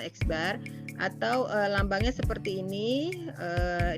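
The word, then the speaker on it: x̄: ini Ads Lalu ada garis di atas ini dibacanya eksbar atau lambangnya seperti ini dibacanya Miu gitu ya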